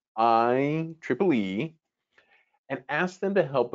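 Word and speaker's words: IEEE: of electronic electrical and electronics engineer and it's pronounced iple e and asked them to help us create a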